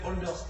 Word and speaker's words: Holders: nous présente qui est holders alors ça se prononce holders comme s'il y avait un seul haut et